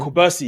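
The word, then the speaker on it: Cubarsí: Kubarsi, right? That's how you say his name? Kubarsi, yeah. Kubarsi is a teenager.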